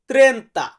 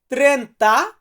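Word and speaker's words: trenta: এরপরে আছে 30 30 কে আমরা ইতালিতে বলবো ত্রেন্তা ত্রেন্তা মানে হচ্ছে 30 সো ভিউয়ার্স এরপরে আমরা 31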